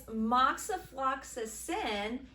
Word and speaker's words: moxifloxacin: You mean moxifloxacin? Kind of, sort of, but not really. It's moxifloxacin, and it is a fluoroquinolone.